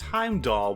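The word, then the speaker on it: Heimdallr: hind dog now arriving on platform to this pronounced Heimdall why is there an R why do I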